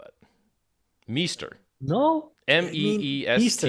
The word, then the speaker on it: Meester: travel- There's no way anybody could spell that. Meester. No, I mean Meester. It's Meester.